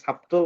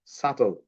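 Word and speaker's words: subtle: তারপরে এখানে বি এর পরে টি আছে, এখানে সাবটল না বলে বলতে হবে সাটল।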